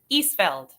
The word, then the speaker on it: Isfeld: Isfeld.